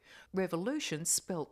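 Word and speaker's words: Revolución: his Memoir it's called Revolution to Roxy Revolution spil the Spanish way basically it's pronounced that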